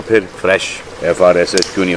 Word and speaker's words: Frsh: और फ्रेश की स्पेलिंग सुनो, FRSH। मैं क्या करूं फिर, जॉब छोड़ दूं?